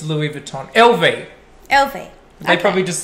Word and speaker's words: Louis Vuitton: yeah louis vuitton yes so i pronounce it louis vuitton because you know and i think people know louis vuitton like when you say louie the time yeah well that's what